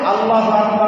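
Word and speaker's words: الله أكبر: এখন আল্লাহু আকবার উল্লাহ বলা যাবে না, আল্লাহু আকবার বলা যাবে না, বরং আল্লাহু আকবারের রাগে সাকির বানাতে হবে। আল্লাহু আকবার আল্লাহু আকবার হবে না, আল্লাহু আকবার হবে না, এটা ভুল হবে। বলতে হবে রাগে সাকিন বানাইয়া আল্লাহু আকবার, লা ইলাহা ইল্লাল্লাহ।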